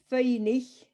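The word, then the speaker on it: faighnich: How do you spell that? Feinig.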